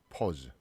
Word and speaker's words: pause: 자, 그 다음에 여기 지금 단어를 쭉 보니까 중간에 AU라는 이렇게 철자가 들어가 있죠. 이거는 거의 대부분이 이 발음이 나요. 이거는 오하고 발음이 약간 중간이에요. 약간 입을 크게 움직이진 않고 뭐 이렇게 읽는 발음인데 이걸 뭐 파우스 막 이렇게 읽는 친구도 내가 본 적이 있거든요. 자, 발음교를 확인하시라는 얘기예요.